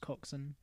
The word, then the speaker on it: coxswain: coxin I think it's pronounced coxson spelled coxswain I don't know yeah